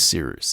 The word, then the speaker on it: Cyrus: And without further ado, my name is Seeroos. It's spelled like Cyrus, pronounced like Sea Rooster.